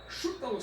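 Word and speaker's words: Šutalo: Luiz o chutalo. Chútalo seria a pronúncia mais aproximada do croata, porque aquele circunflexo invertido ali em cima do S dá o som de SH.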